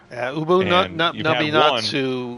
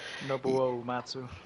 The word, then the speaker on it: Nobuo Uematsu: Ubu Naminatsu.